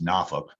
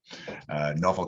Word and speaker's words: Norfolk: used to live there that is the correct pronunciation it's norfolk norfolk southern and csx now by sheer tonnage the